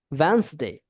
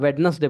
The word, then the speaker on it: Wednesday: Yesterday, yesterday जैसे होता है ना, संडे, मंडे, ट्यूसडे, वेंसडे। आपने ये वाला वर्ड सुना को, वेंसडे, आप क्या बोलते हो, वेडनेसडे बोलते हो, वेंसडे होता है, ठीक है ना, क्या होता है, वेंसडे, Wednesday.